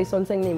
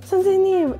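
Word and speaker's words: 선생님: And I remember when they used to be like sonsaenim, and I'd be like, oh, I thought it was this one teacher's name was sonsaenim. So I'd be like, oh, it's three syllables.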